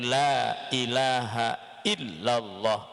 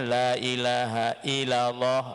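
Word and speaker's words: لا إله إلا الله: betul-betul kita tasdid kan jadi tidak boleh kita membacanya dibaca tashil Dibaca ringan jadi harus betul-betul kita minta sedekahnya yaitu Lailahaillallah tidak boleh kita membacanya lailahailallah lailahailallah lailahailallah karena kalau kita membaca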